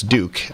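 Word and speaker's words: Dueck: I believe it's Duke. It's spelled D-U-E-C-K.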